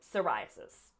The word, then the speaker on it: psoriasis: Eczema, and then psoriasis. It's just a tough word to say, but you're going to go up on the rye part.